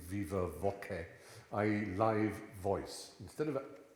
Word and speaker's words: viva voce: It's short for the Latin viva voce, which is a very church Latin way of pronouncing viva voce, i.e.